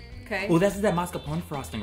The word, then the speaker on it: mascarpone: Okay, So while those are in the oven and you're eating Nutella, I'm making the frosting, which this is basically softened butter, mascarpone.